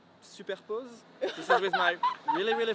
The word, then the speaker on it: Superpoze: Yeah, I'm saying like SUPERPOZE. This is with my really French accent. But yeah, you can like SUPERPOZE works well as well.